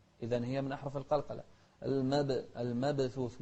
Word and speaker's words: المبثوث: المبثوث مو المبثوث، لا، كالفراش المبثوث. شوف الثاء نهمس فيها، مبثوث.